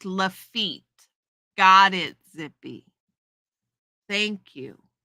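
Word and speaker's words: Lafitte: His blacksmith shop is now a bar pronounced lefit.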